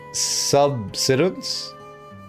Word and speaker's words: subsidence: Yeah, I missed a syllable at the end, didn't I?